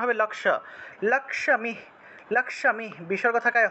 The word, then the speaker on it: লক্ষ্মী: যে লক্ষ্মী আছে না আমরা বাংলায় যেটাকে লক্ষী উচ্চারণ করি খিয় তারপরে ম তারপরে দীর্ঘ ইকার তারপরে বিসর্গ ছিল এটাকে আমরা লক্ষ্মী উচ্চারণ করব লক্ষ্মী এখানে ভেঙে দিয়েছি